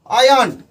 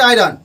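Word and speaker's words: iron: उसके बाद आयरन, आयरन ऐसे बोला जाता है, नॉट आयरन।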